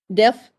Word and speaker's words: Delft: Adib obtained his PhD from Delft. How do I pronounce it? Did I pronounce it correctly? Delft. Delft, Prof.